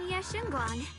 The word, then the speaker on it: Ye Shunguang: I'm Ye Shunguang.